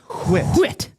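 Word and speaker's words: Whitt: Ernest Ri Peterson Kevin Brown Terry Clark checklist Steve Anton Ernie Wit Toronto Blue Jays it's pronounced wit Ricky Horton Dennis Lamp no Griffy what do you boys got anything of note you're awfully silent.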